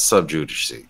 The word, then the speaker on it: sub judice: And they didn't really talk about Bill Love because that's sub judice. That's the right way to say that word.